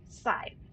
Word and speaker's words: Scythe: I'm pretty sure that's pronounced Scythe. just just for your future reference there, Haskell, that is pronounced site.